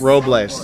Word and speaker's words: Robles: Robles, okay, with a little bit of Spanish flair to it.